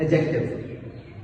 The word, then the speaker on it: adjective: हमारे पास है second एडजेक्टिव अच्छा एक और चीज this is नॉट एड एडजेक्टिव। This is एडजेक्टिव। इसमें जो डी है वो साइलेंट होगा। एडजेक्टिव।